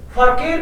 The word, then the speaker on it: Verkehr: Verkehr. हाँ. Verkehr. फर. Verkehr. फरकेयर. Eight silent.